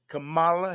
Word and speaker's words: Kamala: How do you pronounce this woman's name? Kamala Harris. Kamala Harris. Kamala Harris. Kamala. You got to keep it Kamala.